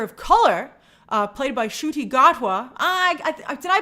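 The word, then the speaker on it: Ncuti Gatwa: first uh doctor of color uh played by shooty gotwa I I did I pronounce it correctly I looked it up before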